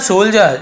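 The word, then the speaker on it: soldier: तो साहस पैदा करने के लिए इन द सोल्जर, इसे सोल्जर पढ़ेंगे, डी को नहीं पर सोल्जर, ऐसे सोल्जर, ठीक है।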